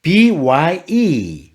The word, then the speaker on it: by: 안 됩니다 by 알겠죠 쌍비 업처럼 발음할 듯 하면서 입술을 강하게 모았다가 터트릴 때는 부드럽게요 바 알겠죠 영어로 byy